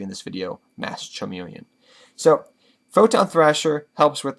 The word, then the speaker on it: Masked Chameleon: with two masked chameleon i also call mass communion mass charmeleon do not ask me why it's just from the first time i ever tried to pronounce mass chameleon when i first got